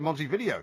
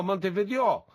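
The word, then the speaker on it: Montevideo: then well they pronounce maybe they pronounce it Monty video no no Monte video because it's Spanish it's like if you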